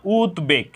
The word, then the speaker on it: উদ্বেগ: ফলার উচ্চারণ অবিকৃত রয়েছে এখানে উদ্বেগ এই শব্দের সঠিক উচ্চারণ হলো উদ্বেগ উদ্বেগ কেন হলো যে উথ উপসর্গে গঠিত শব্দে দ এর সাথে ব ফলা সংযুক্ত হওয়ার কারণে ব ফলার উচ্চারণ অবিকৃত রয়েছে অর্থাৎ ফলা ব ফলার